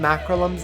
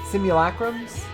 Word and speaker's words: simulacrum: ability to summon some acrollums of them is that how you pronounce that simulacrums of them simulacrum there we go medion saying no